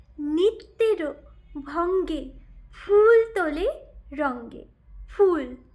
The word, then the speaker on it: ফুল: সে তার পায় নিত্যের ভঙ্গে ফুল তোলে রঙ্গে ফুল not FOOL. I'll tell more than the difference between the pronunciation of FOO.